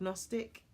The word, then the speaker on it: Gnostic: Gnostic? I'm trying to silently pronounce the G.